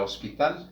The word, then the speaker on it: hospital: Por ejemplo, en este caso tenemos la palabra hospital, hospital, y llamamos a esta una H aspirada porque escuche la pronunciación de la palabra, cómo inicia.